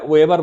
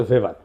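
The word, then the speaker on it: Weber: আর একজন দার্শনিক আছে ম্যাক্স ভেবার, এটা ওয়েবার বলে অনেকে, এটা উচ্চারণ আসলে ভেবার।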